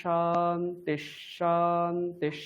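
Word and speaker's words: शान्तिः: ওম শান্তি শান্তি না না না, শান্তিঃ। শান্তিশ। হ্যাঁ, ভাববেন যে ওখানে মাঝখানে এরকম রয়েছে, দন্তের নয় শান্তিশ। দয় লিখে তারপরে একটা তালব্য স্বর রয়েছে, এরকম ভেবে নেবেন, ঠিক আছে?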